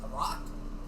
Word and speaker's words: roc: It's spelled R-O-K. Okay, I thought it Or was an like. ROC. I thought you were saying like ROCK. I'm like a rock. How is a rock a bird?